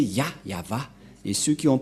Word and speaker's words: Yahvah: Le nom prononcé par le grand-père Abraham, c'est Yava, et le nom initial de ce Dieu, c'est Yah. Voilà, c'est pourquoi le nom du Dieu d'Abraham, c'est Yahva.